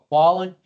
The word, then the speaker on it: Wallen: Wallen.